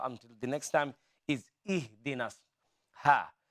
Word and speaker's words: اهدنا: the next time is ihdinas, ha. This ha, focus on this ha to pronounce, make it light. Ha and ha. Ha is heavy and ha is light.